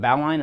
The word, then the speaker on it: bowline: as the bow line um and I do pronounce it bow line and I'll explain why there's nothing wrong with saying Bolan but that's kind of a point of contention